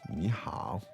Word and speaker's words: 你好: 你好.